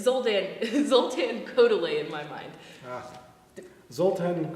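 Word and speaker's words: Kodály: close our concert with um I know it's pronounced kodai but it's zoldan zultan koday in my mind ah zultan kodai we'll we'll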